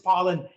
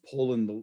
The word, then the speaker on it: Poland: you um so uh it's actually pronounced poland like the country yeah yeah and uh